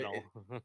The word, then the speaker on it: Yaddle: and So Yaddle. it's 2 syllables.